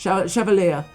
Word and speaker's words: Chevalier: So Chevalier, I think that's, I just call him Chevalier, Chevalier, but I was watching the correct pronunciation, and it's actually Chevalier.